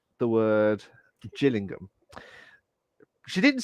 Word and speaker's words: Gillingham: So basically, instead of saying Gillingham, she said chill, like Chillingham, That's how like a it's cold.